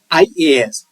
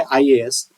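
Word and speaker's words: IAS: शुरू होता है, तो इस वर्ड के पहले यहाँ ब्लैंक स्थान पे एन आएगा, न कि ए।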